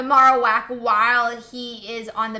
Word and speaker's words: Marowak: survive on the marak I guess his correct pronunciation the Marowak while he is on